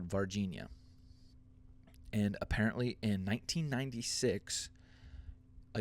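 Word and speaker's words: Varginha: this town in Brazil it's called vardinia sounds like Virginia but it's spelled completely differently uh but it's called Virginia and apparently in 1996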